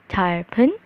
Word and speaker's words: 짧은: 짧은 여행. Ya. Jadi B-nya itu ikut sama yang N-nya ya.